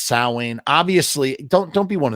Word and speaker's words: Samhain: oh my God no it's pronounced sa obviously don't don't be one of those nerds